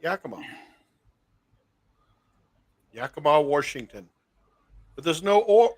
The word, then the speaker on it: Yakima: How do you say Yakima? Just like that. Yakima.